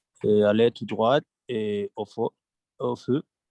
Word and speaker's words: droite: drogue exactement très bien voici là te ne se prononce pas parce que ce masculin des jo taux de retour de droit les masculins et pour indiquer la direction on prononce la tête parce que c'est féminin tourner à droite tourner